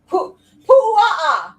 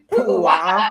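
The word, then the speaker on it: puaʻa: Pu'a'a. Jesus Christ! Actually, you're Say gonna it with me. Pu'a'a. Pu'a'a.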